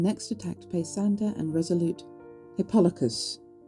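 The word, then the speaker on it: Hippolochus: Agamemnon next attacked Pesander and Resolute Hippolocus. That's how you say it, not Hippolocus. which I kept saying.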